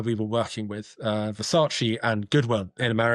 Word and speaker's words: Versace: can see that uh Versace or Versace as I meant to pronounce it still struggle now into our third year working with Versace.